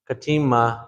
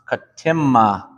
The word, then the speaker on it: katimma: Katima. It's katimma. Like if your name was Tim, that's how you would say it. Katimma. Katimma. Katimma. So everyone say that. Katimma. Katimma. You hear how like the M, you hold it out just a little bit.